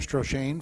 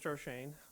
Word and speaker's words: Strane: will be um stran for restore the Delta Mr stran I'm sorry I mispronounced your name last week or yesterday or whenever it was the empis wrong um I'm strane I'm a policy analyst